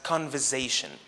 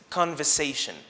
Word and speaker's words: conversation: This word can be mispronounced by English learners who would pronounce it as conversation, using the z sound instead of the s sound. However, the correct pronunciation is conversation.